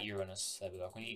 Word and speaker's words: Uranus: to do this and i am pronouncing it right i'm not saying your anus is uranus all right we have